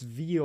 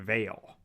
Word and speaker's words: veil: reading it as it's veal. I think he's just mispronouncing veil. Fair enough. Like he's never seen the word veil written out, and so he reads it as veal.